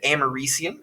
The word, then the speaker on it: americium: that radioactive material is americium is how that's pronounced and that is a